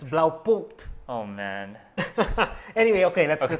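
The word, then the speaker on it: Blaupunkt: Wait, you know, okay, Filipinos pronounce it blow punked. What's that? You know that dash, okay, yeah. Blow punked. Okay, what is that? It's blau punked.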